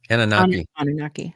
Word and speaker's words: Anunnaki: Anunnaki.